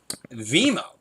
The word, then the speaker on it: Vimeo: Vimeo. That's how you pronounce it.